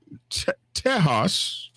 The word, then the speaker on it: Tejas: Hey, man, over there in Tejas, if you know the Spanish language pronunciation of Texas, over there in Tejas, they're having a little bit of hell.